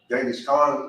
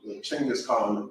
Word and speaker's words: Genghis Khan: So, but they were, Genghis Khan, or Chinggis Khan, however you want to pronounce it.